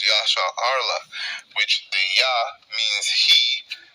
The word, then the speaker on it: Yasharahla: They say they mispronounce it, but it's Yasharahla, which the Yah means he, Shar means prince, Allah means power.